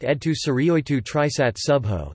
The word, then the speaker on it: ʿĒdtō Suryōytō Triṣaṯ Šuḇḥō: The official name of the church in Syriac is pronounced Edtu Syrioitu Trisat Subho.